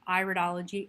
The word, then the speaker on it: iridology: Cosmano, and today we will be looking at the iridology, pronounced iridology as in iris, which is the study of the genetic inherent strengths and weaknesses of the iris as through color, accumulation, and structure.